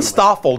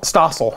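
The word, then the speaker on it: John Stossel: John Stoffel did a show on everything's illegal. Stossel? Stossel.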